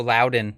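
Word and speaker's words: Loudoun: all right L County yeah we're halfway through luden or what however you pronounce it Loudon Lowden l oh Lowden okay yeah that makes sense uh you know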